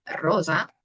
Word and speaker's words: rosa: Pero si nos vamos con el ejemplo de la palabra rosa, ¿qué pasa aquí? ¿Qué cambia, no? Rosa. Pues aquí, por ejemplo, se pronuncia la S con un sonido sonoro.